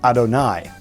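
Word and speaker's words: אֲדֹנָי: object lesson would be when the word you'd --have of hey is written in the Torah and we pronounce the name Otto Nye so it's written one way in the Torah but we pronounce it or chant it using a different word so the word that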